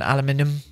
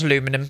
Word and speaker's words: aluminium: I'm going to do that brick actually rather than aluminium, and it's not aluminum, before you Americans say something.